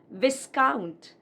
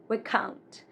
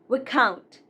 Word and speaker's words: Viscount: This is not Viscount. It's not Viscount, but Viscount. Viscount.